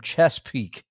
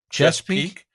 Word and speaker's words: Chesapeake: one more from sean who writes us from chess peak chesapeake chesapeake chesapeake chesapeake okay i thank you for